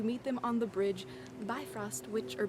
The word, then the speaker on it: Bifrost: goddesses is to meet them on the bridge Bifrost which are be frost which connects the two realms of gods and